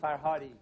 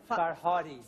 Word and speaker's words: Farhadi: Asghar, and could you tell us how he pronounces his last name too? Farhadi. Farhadi.